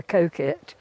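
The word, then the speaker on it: Coquet: I do want to show you the river Coit oh definitely and that's spelled c o q u u e t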